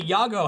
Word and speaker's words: Iago: I mean, Iago. it rolls off, but it's two syllables.